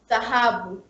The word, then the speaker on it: dhahabu: Yeah, and then we have a combined consonant DH, which makes sound the, like in Swahili word tafadhali, or dhahabu. Tafadhali means please, and dhahabu is gold. Like English word mother, TH. It makes same sound in English like TH. But it's a very, very soft TH.